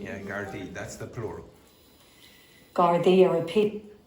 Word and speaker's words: Gardaí: How do you pronounce that word? Again, Gardaí. Yeah, Gardaí.